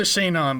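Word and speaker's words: Sinon: They pronounce it Shinon, but it's spelled like S-I. Kind of like how Sean is like S-E-A-N.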